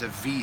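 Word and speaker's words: אב: It would be more softly pronounced as a V sound.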